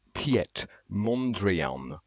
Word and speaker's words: Piet Mondrian: to look up a video on how to pronounce it it's Piet Mondrian Montreal uh you you will recognize you this